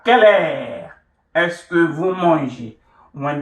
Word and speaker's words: heure: The la has been contracted to L apostrophe because of the silent H and then followed by the voyelle.